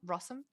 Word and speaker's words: Rossum: Yes, he did Phantom of the Opera back in the day with Emmy Rossum. Did I even pronounce her name right? I didn't even know. Yeah, you did actually. Rossum, Minnie Driver, which is the silliest fucking name in the world.